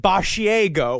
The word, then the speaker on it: Basiago: It's spelled like a mixture of Bar fin Asiago, the cheese. But it is uh it's He says it Basiago.